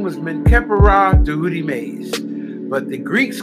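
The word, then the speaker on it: Djehutymes: Tehutimase, spelled D J E H U T Y M E S. Let me spell that for you again. Tehutimase, right? The D is almost silent there.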